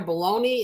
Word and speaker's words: bologna: So turkey, chicken roll-ups, I will tell you, Oscar Mayer bologna is very low in carbs if you like bologna. Okay, we call it bologna, but it's spelled bologna.